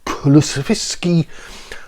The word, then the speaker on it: Kulusevski: Any deals from McKennie and Kulusevski. and that's actually how it's pronounced, will have to be permanent.